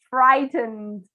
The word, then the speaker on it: frightened: If you can, remember to pronounce the ed at the end of the verbs.